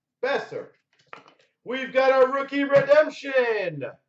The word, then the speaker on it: Boeser: Is it Besser? Boeser? Huh? Besser.